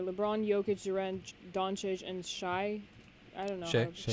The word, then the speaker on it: Shai: Western Conference starters are LeBron, Jokic, Durant, Doncic, and Shai. I don't know. Shai. how- Shea. Yeah. Yeah, Shai? it's spelled That's Shy, solid.